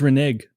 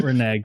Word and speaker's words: renege: It's renege. It's not renege. That was what the video was, the pronunciation of renege.